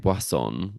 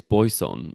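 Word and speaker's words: Boisson: Um, well then I can maybe tag team on that because I found out that you don't say her name Basonon. It's Boyson is how she says it.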